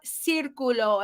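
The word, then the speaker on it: círculo: right so we have Circulo everybody says now the C has the same phonetic rule in Spanish as in English meaning if the C has e i or Y after it it sounds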